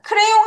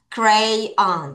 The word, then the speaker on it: crayon: 크레용 하면 안 되지. 여기서 하나 끊어. crayon.